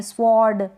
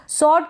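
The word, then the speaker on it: sword: बिल्कुल correct pronunciation है अब इसको सर्ड पढ़ दें या स्वर्ड पढ़ दें स्वर्ड यानी डब्लू को भी आप प्रोनाउंस कर देंगे तो गलत होगा यहां पर डब्लू साइलेंट है डब्लू को नहीं पढ़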